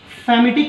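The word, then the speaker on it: palmitic: Famitic acid. L is silent letter here.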